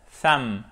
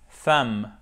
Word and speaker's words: thumb: Attention, le B ne se prononce pas. Ne faites pas l'erreur de prononcer le B et ne dites pas thumb ou thumb. Non, thumb, thumb, thumb.